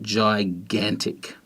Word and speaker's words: gigantic: And then gigantic has the soft G before an I, following this rule at the beginning, and then a hard G because it comes before an A, which is not E, I or Y. So we've got gigantic.